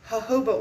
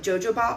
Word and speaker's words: jojoba: in here, and also jojoba oil, which is spelled with J's. I used to call it jojoba oil because I didn't know that the J's were pronounced like H's, so it's jojoba oil.